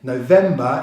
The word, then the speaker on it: November: Again, November is a 3-syllable word with stress on the second syllable.